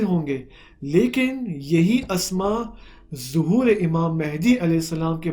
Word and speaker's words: ظہور: جو صحیح لفظ ہے، ظہور نہیں ہے، مشہور ظہور ہے. صحیح ہے. لیکن حقیقی اور جو صحیح تلفظ ہے اس کا وہ ظہور ہے.